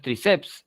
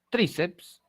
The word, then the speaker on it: tríceps: No es tríceps, es tríceps. La mayor fuerza de voz está en la penúltima sílaba, es una paroxítona, y el margen postnuclear es PS, ¿no?